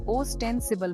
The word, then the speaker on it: ostensible: इसका उच्चारण क्या है याद रखें इसे ऑस्टेंसिबल बोलते हैं यह शब्द सुनने में